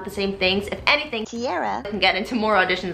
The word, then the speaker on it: Tiara: It is Tiara, not Tiara, and I'm going to insert the correct pronunciation of your name every single time before I mispronunciate it. So sorry. It's Tiara, like the crown, because she's a queen.